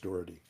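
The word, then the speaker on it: Doherty: D O H D O H E R T Y, but I think it's pronounced Dory.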